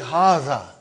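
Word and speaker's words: هذا: See, it is pronounced like Haza. But this alif is not written. It is explained in the key also.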